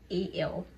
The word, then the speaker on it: gradual: Up next to our second and final word, gradual. I know most of us say it as gradual, but the correct pronunciation is gradual. Just as education, the D is supposed to sound like a J.